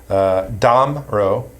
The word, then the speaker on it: Damrau: Damrau, the pronunciation, the emphasis is on the first syllable.